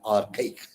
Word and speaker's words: archaic: ARCHAIC. Archaic. Archaic. R is silent there. Archaic.